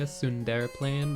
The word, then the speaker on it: Sunderplane: When I first played it, I was like Sunder playing when it was supposed to be like Sundere playing.